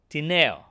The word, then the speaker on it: Tineo: Steve Tineo. Am I saying it right? Absolutely, yes.